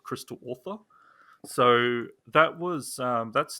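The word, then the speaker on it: Ortha: you call that crystal author so it's called author but spell it's like o-r-t-h-a oh crystal author okay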